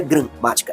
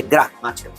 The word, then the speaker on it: gramática: É uma pronúncia mais forte, mais aberta, gra. Não é gramática, é gramática.